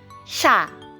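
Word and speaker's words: 샤: If you noticed, I did not pronounce the Y character that was supposed to be present in these vowels because of this S sound. So wherever you see S in front of these particular characters, it's pronounced as SH.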